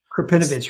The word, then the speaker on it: Krepinevich: Andrew, I'm going to mispronounce his name, Krepinevich. Krepinevich, right.